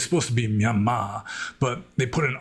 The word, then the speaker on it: Myanmar: of bugged me because there shouldn't be an R at the end. It's pronounced Myanmar, but they just put an R at the end to like signify that it's a long A, Myanmar.